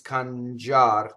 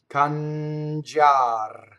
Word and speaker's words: cangiar: Notice that the I is silent, right? So cangiar.